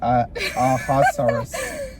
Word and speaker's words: Ahasuerus: it's Ahasuerus. Ahasuerus. Ahasuerus. Ahasuerus. That, yeah. Ahasuerus gets ticked off at his wife.